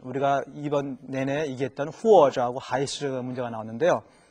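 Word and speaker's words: 还: 부사는 하이, 동사로는 후안.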